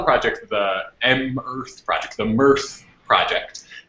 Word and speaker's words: MEarth: And so we call the project the M-Earth project, the MEarth project. So we pronounce it MEarth because these planets make us happy.